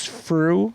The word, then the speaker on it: Frueh: By the way, when you introduce me, remember my name is Freuh. It rhymes with true. It rhymes with blue.